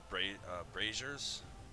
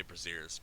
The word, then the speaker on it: brazier: a couple unlit uh braziers I never know how to pronounce that word but Brazier there you go thank you I always say braziers but I know that's not right um so as you